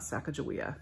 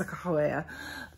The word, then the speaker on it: Sacagawea: in schools about sakahawea first of all we mispronounced her name her name is not Sacagawea it's sakahuea and um you know we